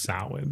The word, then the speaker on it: Samhain: It's pronounced Samhain though.